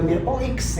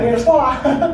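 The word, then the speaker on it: mirepoix: Cuman tulisannya juga Mirpo X sih. Oh, Kalau kita bukan ini Mir- bukan bukan Mirpoa. Marpua. Bacanya juga Mirpoa. Kalau bahasa Perancis itu yang ditulis itu belum tentu dibaca semua.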